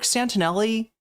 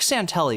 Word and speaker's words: Santelli: Rick Santelli would have lost his What was I calling him? Rick Santinelli. It's Rick Santelli, isn't it? I I think I added an extra Italian syllable in there for no reason.